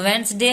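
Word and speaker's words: Wednesday: जाता है क्योंकि वेडनेसडे हम बोलते नहीं है वेडनेसडे वेडनेसडे ऐसे हम बोलते हैं तो वेनसडे आदमी ऐसे बोल देता है तो लगता है कि चलो वेनसडे है लेकिन वेनसडे गलत है वेडनेसडे का स्पेलिंग सही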